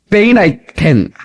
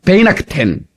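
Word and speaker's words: Weihnachten: 이 크리스마스를, 멕시코, 펠리치 나비데트, 독일어, 프롤리, 베이나이텐, 발음이 잘 안 돼요. 베이나크텐.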